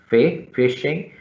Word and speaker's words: phishing: simple as that okay fishing or fishing p p h i is pronounced at fishing so it's the process